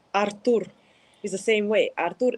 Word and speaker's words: Artur: So Artur, not Arthur.